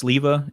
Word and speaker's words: Silva: My last name is pronounced Sliva. It means plum in Czech.